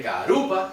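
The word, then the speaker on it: karupa: De carupa. ¿Dónde cae el acento? En carú, no en pa.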